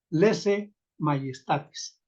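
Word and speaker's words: laesae maiestatis: Aquí les recuerdo que este diptongo ae se pronuncia como e este otro ae se pronuncia como e y luego pues la letra la letra y que es que es no tanto como como como guías y a golpe sino como y como y lesa lesé mayistatis y en Lucas Lucas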